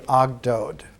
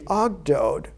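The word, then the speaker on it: ogdoad: it's called in in the the greek pronunciation of the ancient egyptian it was called the ogdode the eight there were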